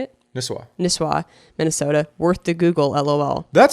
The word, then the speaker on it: Nisswa: Nisswa, Minnesota.